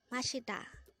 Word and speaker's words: 마시다: mashita mashita the word mashita is a verb which